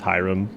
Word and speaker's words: Hyrum: say your name cuz hii is pronounced high and then RM is REM so it's Hyrum 01 it might look